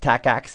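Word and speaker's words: TACACS+: a CS plus so although the name is tack ax plus it's just pronounced tack ax if you don't leave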